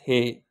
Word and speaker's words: ح: there is no dot so we call it uh Hey in Udu we pronunciate like this hey so here we can